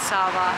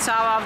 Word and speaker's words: Sava: attractions to see here apparently I said it wrong it is the church of Saint Sava not I don't know what I said saint Saba of the church I don't know but